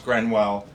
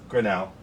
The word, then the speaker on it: Grinnell: And the reason I say that is because you do not come across Grenwell, am I saying it wrong? Grinnell, yeah. Grinnell music equipment, Right.